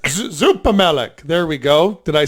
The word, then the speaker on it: Zoepemelk: Zoepemelk. Zoepemelk.